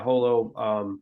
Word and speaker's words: HoloImmune: It Or you refers pronounce it to holo. How do you? Okay, go ahead. Yeah, holo.